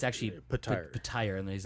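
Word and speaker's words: Petyr: It's actually pronounced Patire. Yeah. Oh, I've been pronouncing it Peter this whole time.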